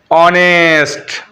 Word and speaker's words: honest: H तब vowel बनता है जब यह किसी शब्द के शुरू में आता है ना, और उसका उच्चारण ही नहीं होता है, साइलेंट कर देता है। ऐसा कौन सा वर्ड आपको याद है, ऑनेस्ट, और एक और बोलो, ऑनर।